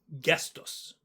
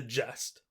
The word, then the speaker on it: gest: I tend to pronounce it with a soft g sound, like jif, but others, including today's guest, usually use a hard g sound.